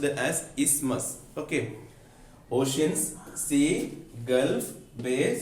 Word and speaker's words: isthmus: It is pronounced as isthmus.